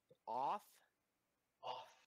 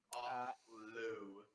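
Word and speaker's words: Othlo: Off? Off. I'm gonna pronounce it off. Off-low.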